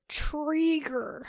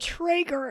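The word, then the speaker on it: Treeger: friends trivia episode and i said it wrong and we lost that game pretty much because of this question i'm gonna go with mr trigger that is correct cause last time i said traeger and i did not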